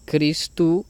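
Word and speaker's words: Χριστοῦ: Aquí tenemos ISOs, que se pronunciaría Jesús debido a este diptongo que hay acá, y Christou, que se pronunciaría Christu debido al diptongo ou, que equivaldría a la U, Christu.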